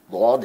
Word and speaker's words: ضاد: مسئلہ یہ ہے کہ جو ضاد ہے یہ عربی زبان کا لفظ ہے، اور اس کا پورا تلفظ کا ایک طریقہ کار ہے کہ زبان کی کروٹ جو ہے وہ اوپر والی داڑوں سے اور اس میں صفت استطالت پائی جائے گی، یعنی آواز لمبی ہوگی، ولضالین کر کے اس